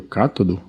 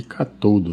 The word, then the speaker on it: cátodo: nós chamamos de anodo, e o terminal negativo, que é o cátodo, que a gente costuma chamar de catodo, né?